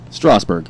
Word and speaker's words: Strasburg: Is that the right pronunciation? Strasburg.